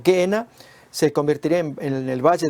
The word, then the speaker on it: Gehenna: La palabra que consideraremos a continuación es gena. Esta es la forma griega de pronunciarlo al valle de Ginom,